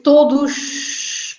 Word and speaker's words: todos: So the S is silent on todos. No. It's todos. Todos. As an S at the end, always. As an S at the end is always pronounced as sh.